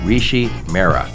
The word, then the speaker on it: Rishi Mehra: the transformative power of mapping with my friend Rishi Mera did I pronounce that name you got that right Joe